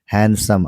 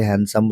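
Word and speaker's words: handsome: हैंडसम। हालांकि डी होता है। डी यहां साइलेंट है इसलिए हैंडसम रीड कर रहा हूं मैं उसको।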